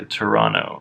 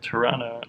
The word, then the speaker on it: Toronto: I keep on saying the T in Toronto like a big toe, and apparently not supposed to say the T, so Toronto. Toronto.